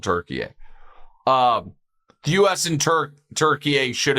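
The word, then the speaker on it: Türkiye: And people have asked me, why am I pronouncing Turkey? Country changed its name. It's no longer called Turkey. It's now called Turkey.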